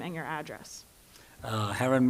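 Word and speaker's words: Haren: Heron. I live in Waldorf, Maryland, 2935 Merchant Court. And my name is spelled just like Karen with an H.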